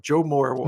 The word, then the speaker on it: Joe Moore: I'm gonna say it right, Joe Moorhead Award. Joe Moore Award.